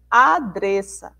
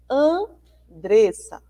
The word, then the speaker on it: Andressa: Se você escrevesse Andressa sem o nezinho aqui, ia ficar como? Adressa, né? E não é essa a pronúncia do nome, né? É Andressa, tá certo?